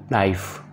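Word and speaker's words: knife: नाइफ चाकू, इसमें के साइलेंट है, के की आवाज़ नहीं निकालेंगे।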